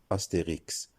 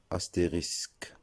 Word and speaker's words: astérisque: On a pris l'habitude de le prononcer Astérix, en référence au personnage d'Astérix, le Gaulois, de la bande dessinée célèbre. On doit le prononcer astérisque et non Astérix.